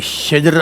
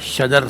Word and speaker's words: شجر: شجر آپ نے کہا ہے, شجر صحیح لفظ ہوتا ہے, ٹھیک ہے نا.